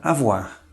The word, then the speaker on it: avoir: O nosso terceiro grupo de vogais compostas, OI, tem som de UA. Por exemplo, na palavra avoir, que significa ter, um dos verbos mais importantes da língua francesa.